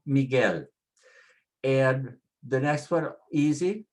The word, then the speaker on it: Miguel: Next one, Miguel, ends with an L, so we put the stress on the last syllable, Miguel.